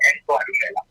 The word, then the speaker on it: N Tuadumela: Yeah, the pronunciation of it is the N is the N. Pronounced as N, and it's Tuadumela. So N Tuadumela.